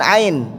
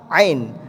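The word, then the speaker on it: ع: Fama yukadzibuka ditekan ain. Ya bunda, huruf ain ini kayak kita ngeden ya bunda.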